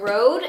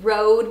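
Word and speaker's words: Røde: is the Videomicro from Rode. It is so weird to me, guys, because it is spelled with an Ö, which is a Danish letter, but everybody pronounces it Rode because they don't have Ö as a letter.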